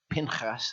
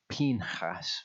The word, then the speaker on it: Pinchas: So Torah portion Pinchas, and that is how to pronounce it. I've been saying Pinchas.